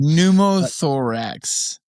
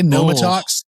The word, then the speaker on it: pneumothorax: I can't pronounce it, you know that. I'm from Wyoming. Pneumothorax. Pneumothorax. What did I say? Pneumotharax?